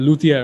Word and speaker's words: luthier: you it's good to be here barack and luthier am i pronouncing that right yep that's absolutely right awesome